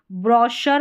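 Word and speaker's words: brochure: यहां पर इसको चैफ नहीं पढ़ते शेफ पढ़ते हैं। सी एच को श और यहां पर देखिए ब्रॉशर पढ़ते हैं।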